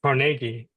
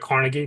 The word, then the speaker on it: Carnegie: It's it's CargI it instead of Carnegie because I guess that's like a local thing like Rodeo Drive versus Rodeo.